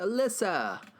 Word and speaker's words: Alyssa: Yeah, that's how you pronounce it. Alyssa.